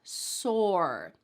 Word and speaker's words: sore: And that second word, sore. Sore. It's just one syllable.